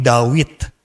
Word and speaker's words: Dawid: Misalnya contoh Raja Daud itu namanya bukan Daud, namanya juga bukan David, tapi Dawid. Bahasa Ibrani kan Dawid.